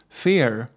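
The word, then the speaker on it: vier: looked this up and the number four is pronounced Fair like in English to to fear something so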